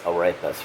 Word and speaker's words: arepas: Everybody says I pronounce arepas wrong.